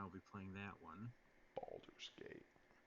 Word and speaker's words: Baldur's Gate: be playing that one Baldur's Gate emphasis on the first uh balls yeah like testicles I was killing a